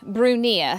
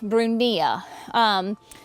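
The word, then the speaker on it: Brunnera: Then this is the Queen of Hearts Bruneria from Proven Winners. Queen of Hearts, excuse me, it's not Bruneria, it is Bruneria. There we go, Bruneria.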